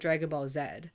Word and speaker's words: Dragon Ball Z: matter um oh also technically I call it Dragon Ball Zed because I'm Canadian but I say Dragon Ball Z just so people aren't